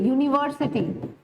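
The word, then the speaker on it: university: अब आप यूनिवर्सिटी pronounce करके देखिए, यूनिवर्सिटी, इसमें यू की साउंड है, और यू अभी हमने पढ़ा है कॉन्सोनेंट साउंड होती है, सो यू विल नेवर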